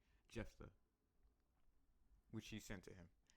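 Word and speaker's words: Jephthah: the message of je Jeff Jeff I've been saying his name wrong this entire time jeffa which he sent to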